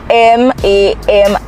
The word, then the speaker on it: Mamiku: now it is known as Mamiku, and it is spelled M-A-M-I-K-U, Mamiku.